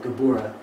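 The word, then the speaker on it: גבורה: severity of God right the name is actually as we talked about before gabora L like the cro gabura exact same word which the cro means strength or severity same idea here well now it's gabura l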